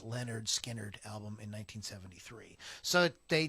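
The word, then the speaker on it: Lynyrd Skynyrd: to the final cut of uh on the pronounced leonard skinnered album in 1973.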